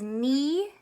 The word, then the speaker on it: knee: It says knee, knuckle. So this silent letter is silent letter K. So the word knee starts with a K, but you can't hear it.